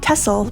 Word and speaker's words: Texel: along the way pronounced more like tessel by the locals this island is just